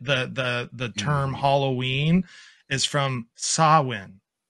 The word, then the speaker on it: Samhain: where we get the term Halloween, is from Samhain. It's called the Celtic, yeah, exactly, festival of like Samhain. Yeah, it's like too. It's spelled Samhain, but it's like, if you look at the pronunciation, it's called Samhain.